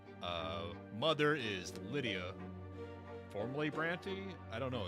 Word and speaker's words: Brante: suffering of sbranti I I am convinced now that it is pronounced sir brany not sbrand and I can't be